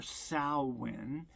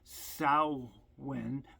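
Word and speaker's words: Samhain: celebrate you know what we call Halloween or sin I have been mispronouncing that word for a long time and I finally got the correct pronunciation. It is called Saoen, but it's spelled S A M H A I N.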